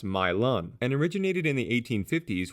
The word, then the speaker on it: Milan: a Southern accent the city's name is actually pronounced milon and originated in the 1850s when a Louisville